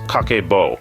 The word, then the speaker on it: Kakeibo: cakeo and its roots kaco pronounced kako is a traditional Japanese